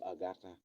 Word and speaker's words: Ngarta: Et ils ne disent pas Ngata, mais ils disent plutôt Agatha.